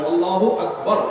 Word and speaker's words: আল্লাহু আকবার: আল্লাহু আকবার উচ্চারণ করার সময় আকবারের রাকে টেনে পড়া ঠিক হবে কিনা? না, ঠিক হবে কেন? তাকবীরের সাথে বলতে হবে আল্লাহু আকবার, আল্লাহু আকবার, এরকম বলা যাবে না।